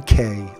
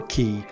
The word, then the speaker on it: Cay: out is Half Moon Cay or key however you would like to pronounce it but this is an